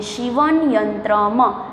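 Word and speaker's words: सीवनयन्त्रम्: क्योंकि ये चित्रपदानी 3 है न्यूटर जेंडर में आता है म के बाद प्रोनाउंसिएशन में अ लगाया जाता है इसलिए इसको बोलते हैं शिवन यंत्रम.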